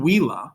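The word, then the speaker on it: villā: two examples down below if you say in wila with a long a that's ableist case it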